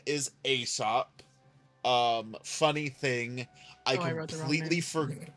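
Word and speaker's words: Aesop: So then I was like oh wait no it's supposed to be Asop. AEO P. is how you spell it.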